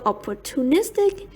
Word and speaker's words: opportunistic: Opportunist is stressed on the third syllable. Opportunist, the same as opportunity, while opportunistic is stressed on the fourth syllable. Opportunistic.